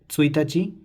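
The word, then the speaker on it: ついたち: So first day is Tsuitachi, second day is Futsuka, third day Mikka, fourth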